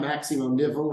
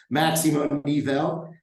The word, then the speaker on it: Máximo Nivel: first thing is to always make sure we pronounce it correctly so sometimes it's a little tough it's not maximum nipple right it's maximum eval and that means the the literal translation from